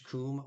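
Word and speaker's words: cum: not graphic or anything like that and it's pronounced Kum like k o m but it is pron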